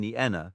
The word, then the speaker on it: Nienna: The pairing ie should not be spoken as in the English piece. Instead, both the I and E are distinctly vocalized and blended, resulting in Nienna, not Nina ui, found in Einen,